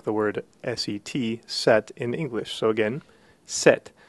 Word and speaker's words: sept: It's very much like the word S-E-T, set, in English. So again, set. Notice that the P is not pronounced. It's essentially a silent letter.